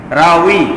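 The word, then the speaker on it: راوي: রাউই আসলে রা ওয়াও ইয়া, কিন্তু আমরা বলি রাবি।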